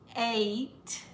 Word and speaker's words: eight: it five six seven eight it sounds like a long a but there's no a in in it eight nine has a long